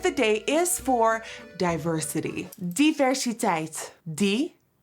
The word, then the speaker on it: diversiteit: Diversiteit *begins pronunciation of word* -Di- -ver- -si- -teit- Juvia's Place is always bringing the 'diversiteit".